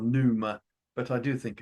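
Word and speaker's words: pneuma: in ancient Greece they called that puma and it's a lovely word actually silent P so it might be NOA or Numa but I do think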